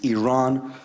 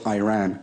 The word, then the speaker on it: Iran: of disrespecting their country you're pronouncing our country's name wrong our country is named Iran not Iran Adams apologize for the mispronunciation